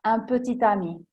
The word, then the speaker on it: un petit ami: Cet enfant, oppure un fidanzatino in età adolescenziale, spesso in francese si dice piccolo amico, e si dirà un petit ami.